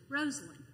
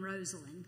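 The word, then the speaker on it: Rosalynn: Carter's name is pronounced Rosalyn. She's named after her Aunt Lynn and her cousin Rose. And I always tell people, remember Rose Garden Rosalyn.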